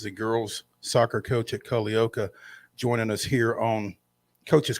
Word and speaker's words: Culleoka: And for those of you who don't know how to say it, that's how you say it. It's Cullleoka. And just like it's spelled.